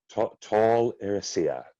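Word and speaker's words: Tol Eressëa: associated with them he brings stories to them tall Rossio did I say it right you did but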